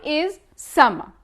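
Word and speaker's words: السماء: Sky is sama. The sky is sama. Notice how we don't pronounce the lam, we say I, only I, and after we pronounce the S 2 times, issa, issama, issama.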